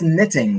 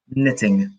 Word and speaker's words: knitting: So that is knitting. So is that leisure, sports, outdoorsy, or adrenaline? Knitting. And remember, the K is silent.